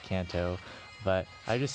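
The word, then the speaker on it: Canto: to it's i believe it's supposed to be pronounced kanto but i just say cantu for the memes uh but yeah i should probably just say kanto from now on to not trigger as many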